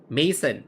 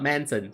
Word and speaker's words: Mason: Mason, not Manson. Sorry. I was like, mansion. Manson. Mason. Mason. Manson or Mason. I think it's pronounced Mason. Right.